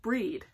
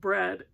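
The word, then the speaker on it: Brede: Now, if you've watched my previous videos, I kept calling that book In This House of Bread, and that's not how you pronounce it. It's called In This House of Breed, and it's the story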